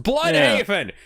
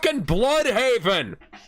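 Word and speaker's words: Bludhaven: It's pronounced blood haven. It's pronounced blood haven.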